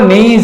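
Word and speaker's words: knees: C will cling your नीज, C will cling your नीज। यहां पर जो एस का प्रोनाउंसिएशन है वो क्या है, जा, नीज, के एन डबल ई एस, घुटना।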